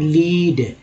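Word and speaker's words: lead: बोलते हैं, zinc and लीड, अब लीड नहीं पढ़ेंगे इसे लेड पढ़ेंगे। यहाँ पर लेड का उच्चारण क्योंकि एक धातु है, अब यहाँ पर उच्चारण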